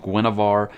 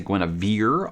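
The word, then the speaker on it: Guenhwyvar: way that it's spelled i'm going with gwynevar i think that sounds much much better and it sounds really really cool uh already one of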